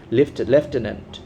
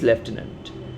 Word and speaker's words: lieutenant: is spelled or remembered at the beginning stage, লেফটেন্যান্ট, pronunciation is লেফটেন্যান্ট, LIEUTENANT, or tenant is okay, LIU, লিউ, আমরা